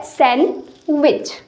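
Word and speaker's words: sandwich: Actual में यहाँ पे जो डी है वो साइलेंट होता है। ओके, तो ये होता है सैंडविच, सैंडविच।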